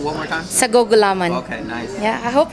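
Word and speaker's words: sago't gulaman: Sagugulaman.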